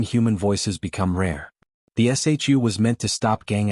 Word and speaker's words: SHU: Inside this fortress, over 1,000 inmates would be housed in the security housing unit, the infamous shu, pronounced shu.